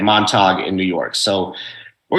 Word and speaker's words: Montauk: Have you guys heard of the Montauk Project? Buddy, you might have heard of this one. Isn't it the Montague? Did you just mispronounce montage? It's Montauk. It's Montauk, New York.